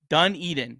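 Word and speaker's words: Dunedin: always say it wrong um say it fast Duneden dun Eden it's dun Eden right yeah you nailed it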